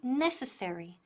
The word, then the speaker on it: necessary: Y aquí necessary, necessary. Ponemos el énfasis en la primera sílaba, necessary.